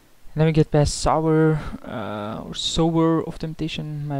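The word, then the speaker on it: Sower: And then we get past Sour, or Sour of Temptation, my apologies, I always say Sour, and then someone like 20 videos ago corrected me, it's Sour of Temptation, as in you reap and sow, so might as well say it correctly now.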